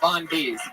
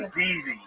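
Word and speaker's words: Von'Deeze: Just when you thought Wet Hands was going to be the most disgusting set of the night, here he is, Von Bees.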